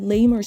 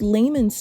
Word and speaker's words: layman's: she said she said Lamer term that's not even how you pronounce it it's it's layman's term that's not even how